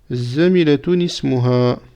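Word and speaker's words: زميلةٌ اسمُها: Tout simplement, on va mettre, comme on a vu la règle, une kasra ici. Et donc, on va prononcer cela zamilatun ismuha.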